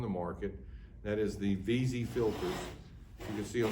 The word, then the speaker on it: Wisy: back it's spelled w-i-s-y in german the w is a v so i call it v-z but if you call us and say you'd like to buy a wheezy filter we're okay with that